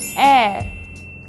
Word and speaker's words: heir: plenty use and before words that start with the silent h these are nouns like our and heir and the adjective honest so we say an hour an heir and an honest person do not use and